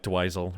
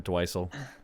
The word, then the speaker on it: Dweezil: I was hoping like- it would be like maybe it's pronounced like Dweezil or Dweisel, but no, it's If just it's Dweezil.